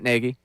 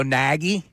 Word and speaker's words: Nagy: how to pronounce Matt Nagy, because I found a Chicago story that says it's like Peggy, but with an N. So I can't go Nagy.